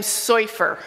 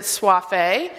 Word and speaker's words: Soifer: with the last name soyfer okay it's like surfer with a brooklyn accent okay sofa my dad